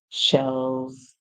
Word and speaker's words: shells: the end and um next e silent so it's the same thing so we hear sh L and then we add S at the end we he sh L's shells and you know what